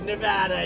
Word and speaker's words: Nevada: we love it and you always have to say it correctly Nevada you a got to go Nevada with thousands of proud hardworking